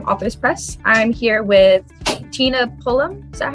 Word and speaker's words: Tina Pullum: um i'm from authors press i'm here with tina pullum is that how you pronounce it yes okay cool wonderful today we're